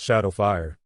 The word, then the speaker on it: XSH4D0WF1: Just wanted to say, it's pronounced Shadowfire.